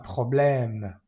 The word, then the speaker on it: problème: ¿Cómo es la pronunciación de este tipo de es? Es con la boca abierta. Un problème.